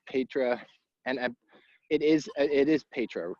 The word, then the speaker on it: Petra: So for everybody to mention this, it's Petra, and it is Petra, correct? I always feel like I'm mispronouncing it.